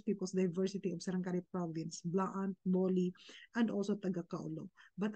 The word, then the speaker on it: Blaan: after the B and they are pronouncing it as Bilaan. Wala naman pong letra na tinanggal after the B para po lagyanin yun ng apostrophe. So there is no need for that. Blaan po talaga ang tawag namin sa aming sarili.